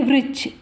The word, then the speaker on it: वृक्ष: घने वृक्ष, ये व में री जुटा तो हम इसे क्या बोलेंगे? वृक्ष।